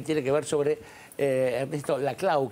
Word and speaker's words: Laclau: que ver sobre eh la clau que sí se pronunciaba puesto que así se pronuncia puesto que es catalán y no francés.